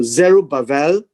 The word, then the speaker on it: Zerubbabel: uh zero baba babel zero ba vel because this this b is actually a v sound so zero bavar the son of um